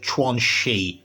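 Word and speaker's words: Quanxi: This is previously what would be Kashibbe as when he was younger and Tuansi. And yes, it's actually pronounced Twanchi, notwhi.wani.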